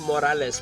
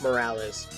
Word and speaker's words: Morales: his mask and yes it's pronounced morales because it's spanish it's not morales um so online they